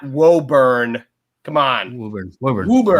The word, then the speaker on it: Woburn: Come on, Woburn.